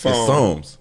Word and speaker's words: Psalms: How you pronounce it? It's Psalms. Okay.